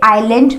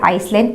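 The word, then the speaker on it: island: आप स्पेलिंग्स देखो, जैसे आई और एल के बीच में आ रहा है एस, तो यहाँ पे एस साइलेंट है, इसे आइलैंड पढ़ेंगे। आइलैंड, बहुत सारे लोग इसको पढ़ने में मिस्टेक करते हैं। इनफैक्ट मैं भी काफ़ी टाइम तक इसे आइसलैंड पढ़ती थी, विच इज़ रॉन्ग।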